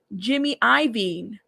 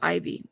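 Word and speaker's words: Jimmy Iovine: I thought it was Ivy. Why did I say I'm reading it how it's spelled? My bad. Jimmy Ivine. Jimmy Lavine. Jimmy Leavine. Jimmy Ivine. It's Ivine.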